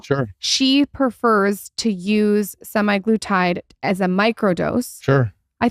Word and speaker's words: semaglutide: The other day, I saw this thing about this doctor talking about semaglutide.